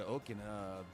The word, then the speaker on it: Okina: Since I came all the way to Okina, there... Oh, Okina, okay. Thank you, Kanji. I will attempt to memorize that and pronounce it correctly.